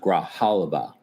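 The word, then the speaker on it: Grijalva: She says it's pronounced Graaliva.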